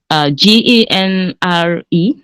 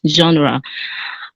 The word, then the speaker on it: genre: every day even though it is helps us g-e-n-r-e it is pronounced as genre particularly stating this because i know the the